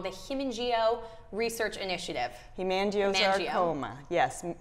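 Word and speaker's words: hemangiosarcoma: I'm saying it wrong the himo research initiative himango saroma yes himango saroma that's a a tough word um for a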